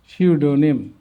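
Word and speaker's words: pseudonym: psycho এই পির উচ্চারণ হচ্ছে না সাইকি পির উচ্চারণ হচ্ছে না সাম সরা সরিক সরিয়াসিস সিউডোমিন সিউডোনিম এবার অর্থগুলো সাইকো মিন্স মন সাইকি মিন্স আত্মা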